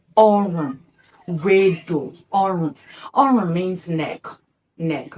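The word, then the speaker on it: ọrùn: Again depending on the tonal marks on each word. If it is written this way then it is pronounced orum.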